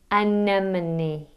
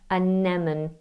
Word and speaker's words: anemone: Anemone. Think of a lemon, lemon spelt with an N, anemone, and a knee, anemone, anemone, anemone.